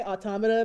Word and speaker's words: Automata: pronounce near automata like automata and I'm just like I get it it's a weird word it's a weird word but think about the word that it's related to it's related to automaton and you don't say